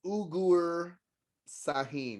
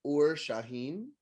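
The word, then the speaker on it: Uğur Şahin: I thought his name was Ugur Sahin. I was close. It's Ur Shaheen.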